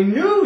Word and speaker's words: knew: more words KN NE e w new I knew you were going to say that not canoe